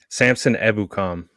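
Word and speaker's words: Samson Ebukam: ahead and i'm going to use how you pronounced it samson ebucom perfect so com ebucom gets signed former ram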